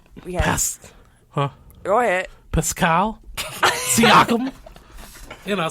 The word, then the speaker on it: Pascal Siakam: Pascal Siakam. Did I say it right? Pascal Siakam?